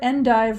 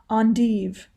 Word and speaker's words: endive: or feta to her endive walnut and pear salad and the pronunciations there's endive and also on div endive e-n-d-i-v-e endive that